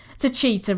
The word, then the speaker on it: Techeetah: I can't pronounce it. Techeetah, right, Techeetah. Well, we'll get there by the end of the season, I'm sure.